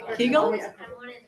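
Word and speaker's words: kugel: into a c um Regional differences in pronunciation how many of you are cougle people I used to coug anybody kle kigle kigle no that's Renee Brownstein's different region they say kigle um so moving along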